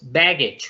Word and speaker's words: baggage: Es importante que este baggage y bags, la pronunciación no la hagamos como una A en español. La A en español es una A abierta, pero en inglés es una A cerrada. Entonces es como, la hacemos así como una AE pegada. Entonces decimos baggage o decimos bags, ¿cierto?